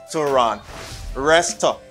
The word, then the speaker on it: restaurant: is restaurant restaurant restaurant restaurant here you don't say rent you say run some people say rent